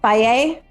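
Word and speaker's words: Fage: one before it was oh Faye yeah and the way that was spelled as well because that was a head scratcher yeah it's f-a-g-e which yeah people don't know how to pronounce that at least here and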